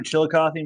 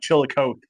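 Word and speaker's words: Chillicothe: Chilikothy mud. You said it right. I know Chilikothy. Okay. Yeah, most people call it Chilikote.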